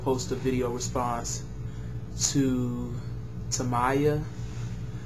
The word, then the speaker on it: Timaya: a video response to toaya I believe it's how you pronounce his name t i m a y a on spanking is